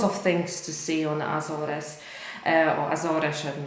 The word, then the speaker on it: Azores: english to be honest i think it might be azores probably something like that in polish we say azore in portuguese we say azores in english i'm not